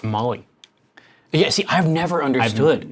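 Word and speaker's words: MOLLE: side sauce fire says it's pronounced Molly yeah see I've never understood like i i m o l l e I just assum I assumed it was like chicken chicken on mole I find hilarious you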